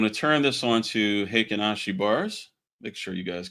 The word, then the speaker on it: Heikin-Ashi: Now, it took a long time for me to know that these are actually pronounced Heikin-Ashi. I asked a Japanese friend of mine to, or actually was a member of the room, and they said that's how you pronounce it. So I always said Heikin-Ashi. He said, no, it's Heikin-Ashi. Okay.